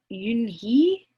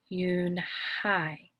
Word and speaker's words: Eun-hye: Kim then turned to Joey she nodded slowly yes it's pronounced eun-hye and it means grace mr. Kim added noon hi Joey said slowly and